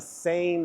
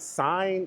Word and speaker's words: Seine: my time on the Sane River. Had to make sure I asked someone at the at the desk, how do you pronounce this? Is it s? No, sane.